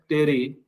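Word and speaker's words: terephthalic: डैक्रोन, polyester, Terylene जो बना होता है ग्लाइकोल और जो है टेरिथैलिक एसिड, इसको हम लोग कहते हैं टेरिथैलिक एसिड, ठीक है। पी साइलेंट होता है, तो यहाँ पे इसका नाम क्या हो गया, टेरिथैलिक एसिड हो गया।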